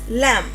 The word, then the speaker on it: lamb: It is lamb not lamp.